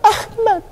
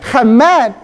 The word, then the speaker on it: Ahmad: orang Ibrani bacanya apa ahmad dia enggak perlu ada alif di depan atau ain enggak pusing Ahmad itu bacanya bukan Hammad Hammad itu head bukan hei ha.